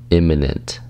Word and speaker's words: imminent: the day is imminent imminent imminent imminent it's three syllables and that stress is on the first syllable imminent eminent imminent it's